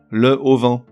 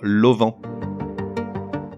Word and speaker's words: auvent: En revanche, pour une raison que j'ignore, on lui invente un H aspiré, qui n'existe pas, mais qui nous fait dire le plus souvent le auvent. Non, il n'y a pas de raison, il faut dire l'auvent.